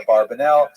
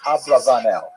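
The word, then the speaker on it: Abravanel: A barbanella a barbanell. Heard it. Um and um but the probably correct I'm following Nathaniel here. Probably correct is Ablavanel. That's probably how he pronounced it more or less with my Canadian accent.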